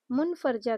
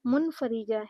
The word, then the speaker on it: منفرجہ: جو زاویہ ہوتا ہے اسے بچے یا اساتذہ منفرجہ کہتے ہیں، حالانکہ اس کا صحیح تلفظ جو ہے وہ منفریجہ ہے۔ سیکھنے کا نام ہی